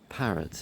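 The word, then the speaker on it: Parrett: Parrots is like P A R E T, I think. But it sounds like the bird, you know, but it's not it's not spelled the same way.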